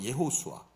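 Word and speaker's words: יהושע: 다 아시는 분은 다 아시지만 여호수아는 히브리어로 예호수아라고 이제 말을 합니다. 예호수아.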